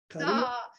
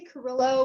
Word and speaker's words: Carrillo: So I say Carrillo, but I'm sure it's Carrillo. Okay. I pronounce it the Caucasian way.